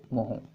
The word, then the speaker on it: mho: Resistance की unit की बिल्कुल उल्टी, रेसिस्टेंस की यूनिट की स्पेलिंग होती है OHM, और कंडक्टेंस की जो पुरानी यूनिट है वो होती थी MHO, मोहो।